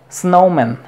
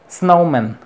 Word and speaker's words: snowman: Las palabras compuestas, como en este caso nouns, compuestos, llevan el estrés o la acentuación en la primera sílaba. Como es el caso de snowman, snowman. No es snowman, es snowman. Basketball, basketball.